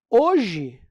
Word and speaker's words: hoje: você tiver a palavra se você tiver a palavra hoje você tem quatro letras mas só tem três fonemas por quê Porque o h não se pronuncia estão entendendo às vezes